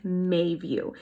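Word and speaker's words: Meiview: It's actually spelled M-E-I-View, but it's pronounced Mayview.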